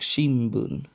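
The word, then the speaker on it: 新聞: example of this word for newspaper Shin Boon which sounds more like Shimon for those who are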